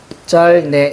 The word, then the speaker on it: 짧네: 이게 훨씬 더 괜찮아 보이지만, 자, 리을 비읍 같은 경우는, 자, 어떤 걸 발음해? 앞에 걸로 발음합니다. 자, 그러니까 비읍이 탈락해야죠. 그러면 어떻게 돼야 돼요? 짤네. 이렇게 난다.